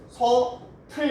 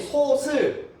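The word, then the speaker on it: 솥을: 최종 발음 어떻게 해야 돼요? 소, 틀 이렇게 발음을 해야죠. 여러분이 소슬, 소칠, 소들 다 틀린 발음이라는 거죠.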